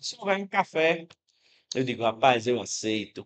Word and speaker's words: café: Você percebe que café, esse fé é a sílaba que mais se prolonga, é a sílaba de pronúncia mais forte. Então vou aproveitar aqui já o primeiro exemplo, né, para mostrar a vocês o seguinte. em café. A sílaba tônica é a última.